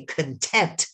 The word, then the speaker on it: content: But I want you to put your hand under your chin and say content. You emphasize the second syllable. But if I say content, it means person's things.